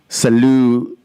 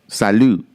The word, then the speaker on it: salud: my bank account so salut that's how you say it right in espanol salud to those folks salute